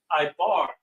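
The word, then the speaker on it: עבר: And it goes back as far as Ibar, which was a man by the name of Eber who comes from the seed of Shem.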